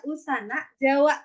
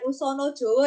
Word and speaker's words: usana Jawa: ini naskah usana Jawa saya bacanya usana Jawa bukan usono Jowo ya guys berarti kalau